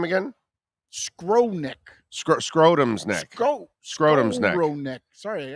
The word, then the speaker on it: Skowronek: Skronik. Scrotum's neck. Scrotum's neck. Sorry, I said it wrong. They have a guy named Scrotum's neck on that team. Skowronek.